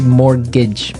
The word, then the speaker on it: mortgage: mean there's this strange mortgage with a t yeah it has a t in it but you don't pronounce it you say morgage morgage so not Mort